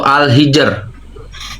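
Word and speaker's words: Al-Hijr: Pengucapan yang benar itu Alhijr.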